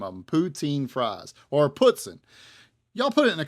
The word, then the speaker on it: poutine: If y'all are familiar with this dish, is it putzin or is it poutine? Up there they called it putzin, and I don't know. It's spelt poutine in my mind, but they said it was poutine. Anyways, we got the chicken, has gravy.